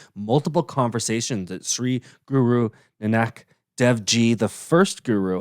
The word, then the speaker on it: Nanak: guru and an activity nanak i need to get that right because because someone had me pronouncing it nanak for a while and it's nanak right asked one of his